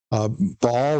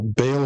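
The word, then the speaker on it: Baal: there prophets of of ball or Bale if you want to pronounce it that way and and ashtaroth and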